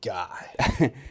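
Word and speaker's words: Gueye: I think his last name is Gay, Mohammed Gay. I'm pretty sure it's Guy. I was watching the broadcast. That's how they were pronouncing it.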